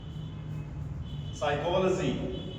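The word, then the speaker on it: psychology: किसी वर्ड की शुरुआत में पी और एस या पी और एन आए तो उसमें पी हमारा साइलेंट रहता है। जैसे साइकोलॉजी अब इसको कुछ लोग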